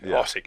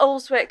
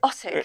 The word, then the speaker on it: Urswick: Ossick is the local pronunciation of Great Urswick. So Marty came up with the Ossick Lass. Ossick Lass. So it's not Urswick, it's Ossick. Ossick.